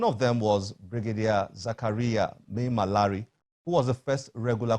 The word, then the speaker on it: Maimalari: Your book, The First Regular Combatant, Brigadier Zakariya Maimalari. Did I pronounce that correctly? Well, yes. Maimalari.